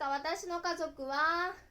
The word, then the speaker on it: 家族: être dessiné comme "家族" et le lire comme "ka zoku". Comme exemple d'utilisation de « zoku », dessinez la phrase « わたしの'家族'は4人です » et lisez-la comme « watashi no 'ka zoku' ha 4 nin desu ».